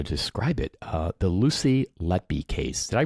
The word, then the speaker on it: Letby: Uh the Lucy Lety case. Did I pronounce her last name right?